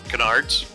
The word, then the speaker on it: canards: plane, while it had 2 Conrad, how you pronounce those front wings in front of it? Canyards? Canards.